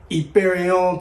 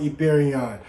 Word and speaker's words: Yperion: We have a special sponsored video today by Yperion Titanium. That is how you pronounce it if you were ever in doubt. Americanized, we're just going to call it Yperion.